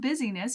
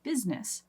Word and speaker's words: business: i in there that makes it sound look like busyness but it's not busyness even though businesses keep you quite busy that's how I remember to include that I even though I don't actually pronounce it that way I say business business no I in the middle business so that one's um don't forget that eye the next one is